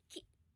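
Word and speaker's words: 季: Untuk cara bacanya ini tuh hanya ada ee onominya saja, Teman-teman, yaitu K. Nah, jadi ini hampir enggak punya kunyomi.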